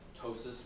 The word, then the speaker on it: ptosis: there's a thing called ptosis which is like a drooping of an eyelid drooping of a foot you don't pronounce the P so here it can